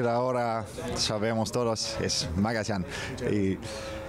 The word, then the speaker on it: Magallán: ¿Cómo se pronuncia tu nombre? Lisandro Magallán. Buenos días. Primero, buenos días también. Magallán. A partir de ahora sabemos todos, es Magallán.